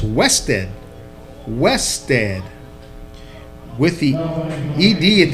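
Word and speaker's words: Husted: I see that it's pronounced H-U-S-T, Weste. Although it's spelled H-U-S-T-E-D, it's Weste.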